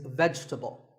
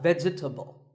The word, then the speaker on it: vegetable: mispronounced a lot is vegetable it's not vegetable if you say it correctly there are only three syllables vegetable vegetable let's talk about a